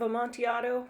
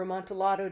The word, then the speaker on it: Amontillado: is a pipe of a montiado or amontillado depending on your pronunciation they're actually using more of kind of a spanish pronunciation than italian i believe but i could be wrong but basically a pipe